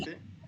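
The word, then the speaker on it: areté: que se escribe como Areti. arete, pero con tilde en la E.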